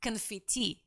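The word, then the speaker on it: конфетти: they have for confetti it's confetti that's how they pronounce it don't ask me i'm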